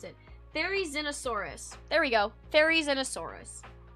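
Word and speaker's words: Therizinosaurus: This is how you this is how you pronounce it. Fairy Xenosaurus.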